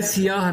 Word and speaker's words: سیاہ: ہے۔ جیسے وہ سیاہ، عام طور پہ کہتے ہیں سیاہ، یہ سیاہ نہیں ہے، یہ ہے سیاہ رنگ میں نہا گئی